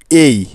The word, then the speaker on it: A: উচ্চারণ ভুল করে থাকি, যেমন এ, যা হলো সম্পূর্ণ ভুল। তবে এখন থেকে খুব ভালো করে মাথায় রাখুন, লেটার হিসেবে আমরা সবসময় এই বর্ণটির উচ্চারণ করব এই এই এই এই, নট এ, ইটস এই। আমার সাথে সাথে বলুন এই